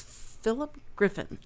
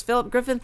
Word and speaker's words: Philip Griffin: And so I didn't know if you spelled it or you pronounced it maybe differently, like Philip, and how. But no, it's Philip Griffin.